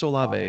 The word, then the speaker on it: Olave: Well, I hate the Patriots too, and I'm a Patriots fan, so Is it Olav or Olavi? How do you say Olave? That is Chris Olave.